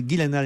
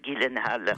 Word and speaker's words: Gyllenhaal: avec Jake Gyllenhaal, car il faut prononcer Gyllenhaal et non pas Gyllenhaal comme je l'ai fait hier ou avant-hier.